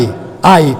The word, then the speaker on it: ay: se apartan dice Jehová y es que se pronuncia unai ay ay como pobre hay de los hijos